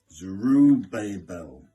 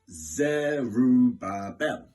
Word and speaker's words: Zerubbabel: story now about a man named now god pronounces correctly zuru babel zuru babel hard you can find this man